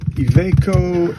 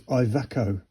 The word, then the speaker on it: Iveco: It's off an Iveco truck. I was wondering how to pronounce that. I always thought it was Iveco, but it's Iveco, which is Italian, bambino, cappuccino.